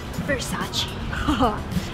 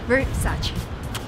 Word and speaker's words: Versace: I think I pronounce it even better than the guys who work there. Versace. This is an Italian brand. Versace.